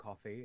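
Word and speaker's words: CFVY: ] sense right yeah team coffee pronounced team coffee is a uh Team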